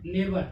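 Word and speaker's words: neighbor: यानी कि पड़ोसी, बगल वाले, बगलगीर, क्या हो गया, नेबर। नेबर मीन्स पड़ोसी। इसमें क्या हुआ, GH क्या हो गया, साइलेंट है, GHNEGHBOR, तो बचा क्या, NEIBOR, नेबर।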